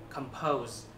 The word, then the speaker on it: compose: hôm nay là từ compose. Ok, đây là một động từ. Và mọi người để ý là chữ này nhấn âm thứ hai. Chữ này đọc lại là compose.